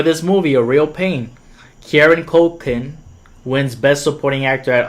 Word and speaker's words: Kieran Culkin: Incredible acting from Jesse Eisenberg and Kieran Culkin. That's how you say his name. I'm so sorry that I messed it up twice. Kieran Culkin.